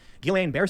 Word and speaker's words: Guillain-Barré: I will also say, however, to Charlie, Guillain-Barré syndrome, which I'm probably pronouncing wrong, it's a side I effect. always mispronounce it. Guillain-Barré.